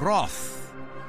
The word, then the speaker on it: wrath: words in different ways this one's got the word spelled w-r-a-t-h which we hear in australia pronounce an anglicized variation of roth meaning you shall incur my wrath my anger my frustration but i believe in